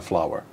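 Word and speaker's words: flour: c'est flowers, floor, and flower. Ok. It's this, actually, and la farine, c'est flower. Oui. Same pronunciation as fleur, flower.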